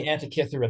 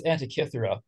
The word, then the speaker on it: Antikythera: Oh, number 10 is the Antikythera mechanism.